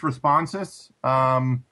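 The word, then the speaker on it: Responsys: It's pronounced ResponseSys.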